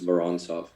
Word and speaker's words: Vorontsov: And his name is Vorontsov. Am I pronouncing it right? So yeah, his last name is Vorontsov. Vorontsov, okay.